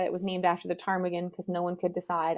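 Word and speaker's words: ptarmigan: was named after the Tagan because no one could decide on or remember how to spell where the the silent P went in the Tagan um so these birds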